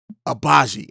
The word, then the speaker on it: Agbaji: name to say but reading it he has he has a letter in there that's silent and it kind of throws